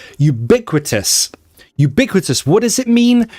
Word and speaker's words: ubiquitous: we've got two a two ubiquitous pronunciation don't get this wrong you you ubiquitous stress on bit ubiquitous ubiquitous what does it